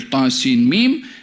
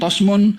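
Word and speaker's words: طسم: dengar bacaan daripada nabi th Sin mim dibaca thim mim bukan thasmun bukan tsmun bukan thsima bukan tusuma jadi th Sin mim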